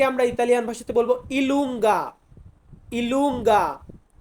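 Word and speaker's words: i lunga: আছে যে যে কে আমরা ইতালিয়ান ভাষাতে বলবো ইলুঙ্গা ইলুঙ্গা কে কে আমরা বলবো কাপ্পা কাপ্পা মানে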